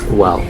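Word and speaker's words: Güell: And by the way, the park is pronounced Park Well.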